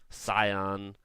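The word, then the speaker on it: Zion: us like grand canyon yosemite death valley um scion valley of fire i said it right this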